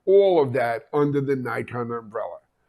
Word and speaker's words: Nikon: at the show was the Nikon Booth or Nikon as they pronounce it everywhere outside of the US uh the Nikon booth